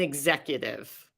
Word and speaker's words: executive: especially since the pandemic there are two words that are frequently mispronounced because of the emphasis and those two words are pandemic and executive i'm going to say